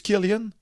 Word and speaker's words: Cillian: beaucoup que Kylian Murphy c'est du Kylian que ça se prononce ok que Kylian Murphy